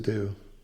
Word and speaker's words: Seydoux: Seydoux.